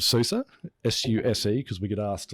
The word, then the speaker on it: SUSE: you currently working somebody for a company called Susa s-u-s-e because we get asked a lot how